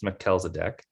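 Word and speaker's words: Melchizedek: facebook pillow so that's how it's pronounced it's pronounced mackel's a deck um so i'll i'll put that out there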